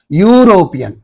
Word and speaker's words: European: you pronounce this word European you don't you are not pronouncing this e you are pronouncing the word from U right europian from here